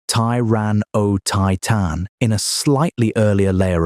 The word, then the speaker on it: Tyrannotitan: It included Tyrannotitan, pronounced Tyran O Titan, in a slightly earlier layer of rock.